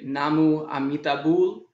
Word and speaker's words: namu amitabul: you'd say namo amitabha in korean you'd say namu amitabul and in japanese it's